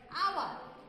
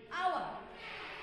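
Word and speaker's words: hour: Number two, আওয়ার, আওয়ার, এখানে এই যে উচ্চারণটা অ এর মতো হলো, এই কারণে আমরা এখানেও এন বসাতে পারি।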